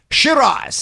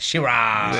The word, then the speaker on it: Sheeraz: contender in the world for the middleweight, Hamza Shiraz. Yes. Hey. You said that right. Did I pronounce that right, Hamza? Yes, you did. You said it with a little finesse. Shiraz.